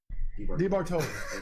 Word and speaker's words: DiBartoli: Yeah, it should roll off the tongue a little more, like DiBartoli. DiBartoli.